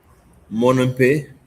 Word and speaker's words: Monompe: Monompe. Tem que ser acento agudo, 2 sílabas, tá bem?